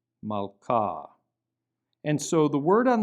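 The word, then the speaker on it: מלכה: And so the word for queen is malka, but you don't pronounce the H there, malka, malka.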